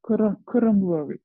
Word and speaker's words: Qirimli: Like, as far as I pronounce it correctly, it's Qirimli, right? Yes. Yes, Qirimli, we also say.